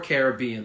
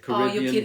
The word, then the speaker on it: Caribbean: of the Caribbean or Caribbean there are two ways you can say it Caribbean you could stress be or could stress the r then the the like